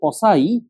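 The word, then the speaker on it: Poiseuille: না হ্যাগেন পসাই ইকুয়েশন সে একজন ফ্রেঞ্চ লোক যার কারণে উচ্চারণ হবে পসাই কিন্তু তার বাগানটা বানানটা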